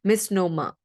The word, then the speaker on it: misnomer: I'm not saying nomer, I'm saying misnomer. Okay. The R at the end is silent in the pronunciation.